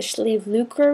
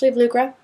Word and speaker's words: Sliabh Luachra: This region is known as the Schlucra region. Maybe I can throw that up on the bottom right there because it does not look at all like it's pronounced like that. But yeah, Lucra, I think Irish, you guys, it's crazy language.